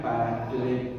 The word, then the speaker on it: paracleto: La palabra consolador en griego se pronuncia paracleto, pero esa palabra paracleto